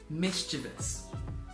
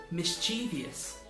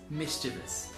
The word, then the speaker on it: mischievous: make this mistake again you commonly hear this word pronounced mischievous with an extra syllable however looking at the dictionary the correct pronunciation is mischievous so this is a